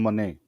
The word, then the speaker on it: Moné: I think she pronounces money. Yeah. Whatever. I'm saying Monet. Okay, money. It's money, but I hear a lot of people saying Monet.